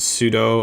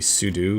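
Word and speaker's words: sudo: pseudo or pseudo command people pronounce it different ways I think I'll probably pronounce it pseudo although technically maybe sudu is better but doesn't really matter so don't do this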